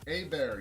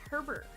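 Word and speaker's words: Hébert: A-Bear, yes. Yes, A-Bear, thank you. That's A-Bear? That looks like Herbert.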